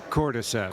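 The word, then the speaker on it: Cordyceps: Cortiseps.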